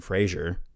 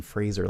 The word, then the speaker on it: Fraser: last name is uh rhymes with laser because a lot of people say Brendan Fraser but this Brendan Fraser like a laser yeah